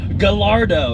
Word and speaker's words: Gallardo: you own this car you can't even pronounce it it's Gallardo it's like snacker lardo house also superleggera that